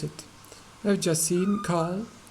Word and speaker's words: Carl: I've just seen Carl talking with Mark. I've just, not just, but just seen with a long E sound. Carl, the ra, this little ra is not pronounced.